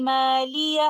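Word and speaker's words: مَالِيَهْ: number 28 to 29, then we merge letter ha of the word maliya into letter ha of the word halaka. And this is called idgham mutamathilan, and we will recite it like this.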